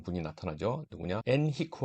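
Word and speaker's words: Henrique: 한 분이 나타나죠 누구냐 엔히크 왕자 영어로 발음하면 엔리코 왕자라고 그럽니다 엔히크 왕자가 항의 전문가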